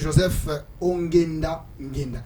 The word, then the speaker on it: Joseph Ongenda Ngenda: d'abord télévision alors avant d'aller plus loin Monsieur Joseph onenda ngenda est-ce que j'ai bien prononcé votre nom oui i très bien vous